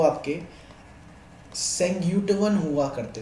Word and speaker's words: Senguttuvan: हैं, वो कौन हुआ करते थे, वो आपके सेंग्यूटवन हुआ करते थे।